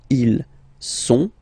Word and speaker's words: ils sont: Okay, ils sont, final T not pronounced, ils sont, elles sont.